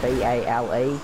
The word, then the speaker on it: Bale: Yeah, and if you want to find me on social media, then B-A-L-E, Bale. Hey, Bale, Bale, B-A-L-E. Sure it is. That's not how it's spelled, everybody.